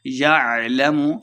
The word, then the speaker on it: يعلم: حرکات لمبا کریں گے۔ یعلم لمبا بالکل نہیں کرنا، عین کو تلفظ سے پڑھنا ہے۔ اذا بعثر، بعثر سا